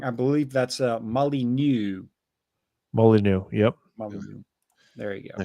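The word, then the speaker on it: Molyneux: Uh, just just so that I'm pretty sure I'm pronounced that wrong. I believe that's Molly. Molyneu.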